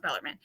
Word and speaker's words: Bellarmine: It's pronounced Louisville, and it's pronounced Bellarmine.